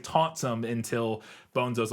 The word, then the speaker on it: Bonzo: Like, he mispronounced the name and somebody corrects him and says, no, it's Bonzo, like bone and zo, or I don't know, whatever.